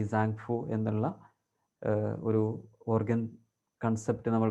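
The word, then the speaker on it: 脏: ശരീരത്തിൽ പെരികാർഡിയത്തെ ഒഴിവാക്കിയിട്ടാണ് ഈ സാങ്ഫു എന്നുള്ള ഒരു ഓർഗൻ കൺസെപ്റ്റ് നമ്മൾ പറയാറുള്ളത് അതിൽ സാങ് എന്നുള്ളതിന്റെ ഉച്ചാരണം ടി കൂടെ ഉൾക്കൊള്ളുന്ന ഒന്നാണ് യഥാർത്ഥത്തിൽ ഭാഷാപരമായിട്ട് അതിൻറെ മീനിങ്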